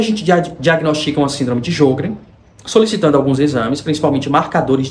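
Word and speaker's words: Sjögren: algumas glândulas como por exemplo a síndrome de jogr que se escreve s j o g r e n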